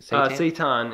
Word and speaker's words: seitan: How do you pronounce it? Seitan. Seitan.